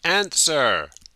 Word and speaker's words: answer: the question she can answer the question the basic form is to answer a question and the w is silent we don't pronounce it please your name this